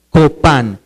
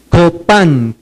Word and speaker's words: copá: favor levantando la mano la palabra es copá la c de casa la o de oso la p de papá la a de Alejandra y la n de nada copá con acento en la a copá copá levanten la mano los